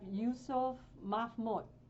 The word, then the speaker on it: Youssef Mahmoud: Hello, today we have Youssef Mahmoud. Am I pronouncing it correctly?